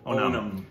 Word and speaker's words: Onam: I want to make sure I know the No, I want to pronounce it properly. Onam.